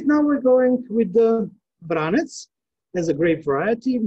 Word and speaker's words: Vranec: we're going with the vranets as a grape variety the name vranas as pronounced in montenegro serbia bosnia herzegovina croatia and vranets we said in north macedonia there's also because branch